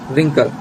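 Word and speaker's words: wrinkle: और यहाँ silent letter जो लास्ट है वो आ जाएगा W, इसे हम पढ़ेंगे रिंकल, जिसे हम हिंदी में बोलते हैं सिकुड़न.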